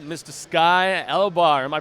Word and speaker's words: Elobar: Sky Elobar. Am I pronouncing that correctly? Yes. Elobar, nice, man.